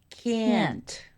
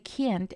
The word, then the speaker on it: can't: modal qui Es simplemente can't ya que can't es acentuado y pronunciado de esta manera esta forma completa en